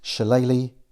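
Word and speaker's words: shillelagh: his mutant Powers via his shalele yes that is how that's pronounced Irish spellings are weird to tip the battle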